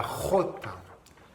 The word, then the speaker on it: jota: La jota. Jota. Alors ça, pour prononcer la jota, c'est ici que ça se passe, d'accord? C'est comme un R, mais plus profond.